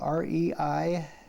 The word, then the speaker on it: Reiss: 2012, and we are at the home of Joe Reiss, and his last name is spelled R-E-I-S-S.